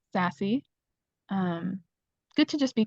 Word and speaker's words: SAASC: s a c um which we usually shorten even further and pronounce sassy um good to just